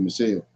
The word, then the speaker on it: Michal: Yeah, well, it's I think it's Michael. It's Michal. Yeah, that's Michelle. You can pronounce it Michelle.